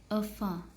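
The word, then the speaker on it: enfant: अ वाली साउंड होती है इसकी तो इनफेंट है तो इनफेंट की प्रोनंसिएशन होगी अ फ अ फ टी सी आर एफ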